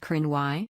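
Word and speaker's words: Cruithne: The periodic planetoid is named Cruithnia, pronounced Crinwy, after an ancient group of Scottish people, also known as the Picts.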